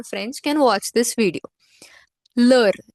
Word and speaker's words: l'heure: L'heure, L apostrophe H-E-U-R-E. This is pronounced together as l'heure means what?